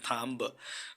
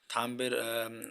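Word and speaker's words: thumb: তারপরে এখানে থাম্ব, থাম্বের উচ্চারণ হওয়ার কথা ছিল কিন্তু এখানে থাম্ব উচ্চারিত না হয়ে উচ্চারণ হবে থাম, যার অর্থ হচ্ছে হাতের বুড়ো আঙ্গুল।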